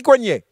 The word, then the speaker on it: Coignet: À côté, je vais installer, si c'est possible, Cathy Coignet. C'est bien écrit, c'est bien comme ça que ça se prononce, et c'est bien la personne qui est sur la photo.